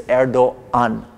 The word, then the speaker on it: Erdoğan: You don't pronounce it, you just acknowledge its presence. So you say Erdoğan instead of actually going